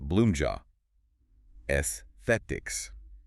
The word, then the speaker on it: Bloomja Aesthetics: We are diving into Bloomja Aesthetics, and that's pronounced Bloomja Esthetics.